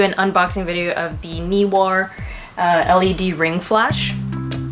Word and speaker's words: Neewer: unboxing video of the knee war LED ring flash I think it's pronounced knee war some people saying newer but I don't think it's right knee were knee war